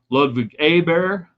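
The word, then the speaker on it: Ludvig Åberg: Ludwig Ober, if we want to say it correctly, 16th, FedEx Championship, does it on torn up knee for most of the year.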